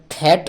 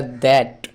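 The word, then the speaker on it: that: দ হয় টি এইচ এ টি এটা থ্যাট নয় এটা দ্যাট এক্ষেত্রে টি এইচ এর উচ্চারণটা দ এর মত তাহলে টি এইচ এ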